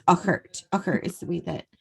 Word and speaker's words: Urquhart: And I'm saying it the way that it should be pronounced, but actually, if you were to read it, it almost looks like it's Urquhart. Right. But it's Uckert.